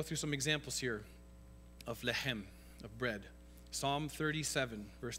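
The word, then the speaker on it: לחם: Okay, the Hebrew word for bread is lechem. That's what's pronounced lechem with a little in your throat.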